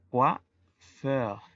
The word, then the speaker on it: coiffeur: En masculino, peluquero es coiffeur. La combinación de vocales O, I se pronuncia UA.